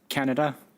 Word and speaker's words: Kannada: Canada. Yeah, usually pronounced Kannada, but we'll take that, yeah.